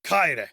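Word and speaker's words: χαῖρε: Kaire. And that's one of the features sometimes taught for the ancient pronunciation, is that the ch was a kh.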